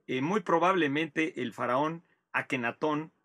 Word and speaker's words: Akenatón: muy probablemente el faraón akenatón o ajenatón realmente ahora nos dicen los egiptólogos que deberíamos pronunciarlo con la jota más ajenatón más que akenatón aunque el nombre se